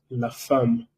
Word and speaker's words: femme: Significa el hombre y eso se pronuncia la femme, ¿vale? Porque en francés, una cosa muy importante, EM, AM, EN y AN tienen la misma pronunciación, todo se pronuncia un. Por eso aquí decimos la femme, ¿vale?